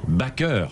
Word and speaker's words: Baker: lieu cet après midi joséphine baker puisqu'elle voulait qu'on prononce à la française qui en trop au